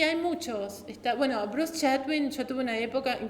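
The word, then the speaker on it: Chatwin: muy bueno es el clásico chadwin se escribe c h a t w i n Bruce Bruce Bruce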